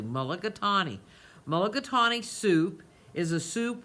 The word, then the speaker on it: mulligatawny: I say it correctly, mulligatawny.